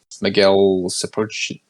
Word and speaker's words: Miguel Sapochnik: Yeah, and then the next 2 episodes I will say are they're directed by Miguel Sapochnik. That's how you pronounce that.